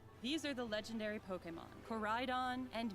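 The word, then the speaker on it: Koraidon: name motorcycle dragons these are the legendary pokemon corridon and miraidon you'll rely on one that's how you pronounce them in your adventure climb on and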